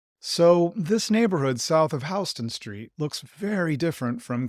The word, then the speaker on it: Houston: The city in Texas is pronounced Houston, while the street in New York is pronounced Houston. It can be a little confusing for visitors. So, this neighborhood south of Houston Street looks very different